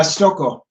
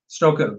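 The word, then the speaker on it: Stokoe: up his last name how do you pronounce that uh stoko stoko james stoko is the he did everything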